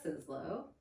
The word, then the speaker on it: Sizlo: Okay, so this is Sizlo.